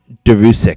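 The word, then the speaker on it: Đuriš: you pronounce his name it's a d with a line through it u r i with an accent s with the little carrot that points down uh a regular I and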